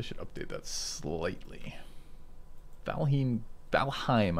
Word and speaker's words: Valheim: update that slightly falheen valheim i've told this rhymes with haim not him so we want someone